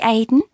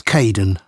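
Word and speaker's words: Kaeden: welcome to the team hi Aiden uh it's Caden I'm so sorry oh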